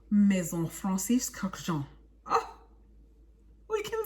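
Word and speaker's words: Maison Francis Kurkdjian: Maison Francis Kurkdijian. One more time. Maison Francis Kurkdijian. Maison Francis Kurkdijian.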